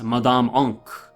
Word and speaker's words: Madame: truly your home although I'll be calling her Madame oink she insists that the proper pronunciation is mad on she would always correct Chuck-E-Cheese when he introduced